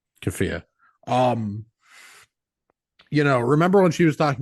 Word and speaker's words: keffiyeh: I don't want to be culturally insensitive, but I realize I don't know how to pronounce it. Keffiyeh. Keffiyeh.